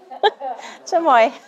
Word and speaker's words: chamoy: like to say it properly for me oh chamoy it's really okay okay excellent all right chamoy